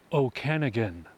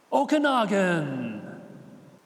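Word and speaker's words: Okanogan: you pronounce this place that would be Okanagan there's even a song about it oh can again ah wrong all kinds are wrong you'll be scratching your Noggin over this one cuz it's pronounced okaga oh yeah that's near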